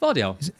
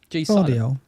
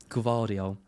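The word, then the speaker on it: Gvardiol: Do you say, how do you pronounce Vardiol? Vardiol. Vardiol. Yeah, that's what I said. You got in trouble on late tackle last week, didn't you? Because you and Andy kept saying Gavardiol.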